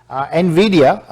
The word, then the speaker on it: Nvidia: Nvidia, that's how it's pronounced, it's 8.7% जो है ये ऊपर गया है और इस वक्त 262% in the last quarter from the earlier year.